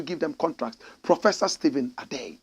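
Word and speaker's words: Adei: Professor Stephen Adey said it. Find me a photograph of the good old professor. Adey is spelled A-D-E-I.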